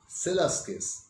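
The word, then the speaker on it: Przewalski: উচ্চারণটা হবে সেলাস্কিস, কিন্তু লেখা আছে PRZD দিয়ে, অর্থাৎ উচ্চারণটা জেড দিয়ে শুরু হচ্ছে, সেলাস্কিস। প্রথম পিআরটা বাদ চলে যাচ্ছে।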